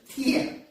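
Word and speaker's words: 天: The Chinese pronunciation, Tian. They believe in the heaven, one supreme God, Tian, or Ti.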